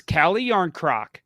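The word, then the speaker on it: Calle Järnkrok: can't say his last name okay cut it's cali yarncroc say cali young croc cali yarn croc okay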